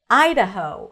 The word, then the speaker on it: Idaho: Idaho. Stress on the first syllable.